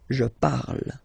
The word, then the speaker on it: parle: to pronounce it is je parle, parle. So remember, we put it, okay, but then we don't really pronounce it.